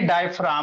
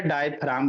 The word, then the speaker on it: diaphragm: तो यही डायफ्राम होते हैं बाबू। इसको पढ़ोगे क्या, डायफ्राम पढ़ेंगे जी, साइलेंट होता है भाई, मीनिंग याद रखना। इसको क्या पढ़ेंगे? डायफ्राम पढ़ेंगे सर अभ्या।